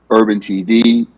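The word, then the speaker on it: URBN TV: the second service is called urban tv but it's spelled u r b n dash tv and it's targeted to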